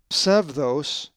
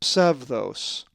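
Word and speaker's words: ψεῦδος: If you said psevdos, you are correct, for the accent is over the epsilon in the diphthong epsilon epsilon, and it is pronounced psevdos.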